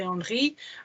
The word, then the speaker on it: Henry: did know about thierry henry and they might have called him thierry henry but then it wasn't r they knew it wasn't henry so they knew that the h wasn't pronounced and i knew it